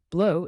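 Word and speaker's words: bleu: the deep blue sea blow is pronounced blue similar to the English word blue but softer vert stands for green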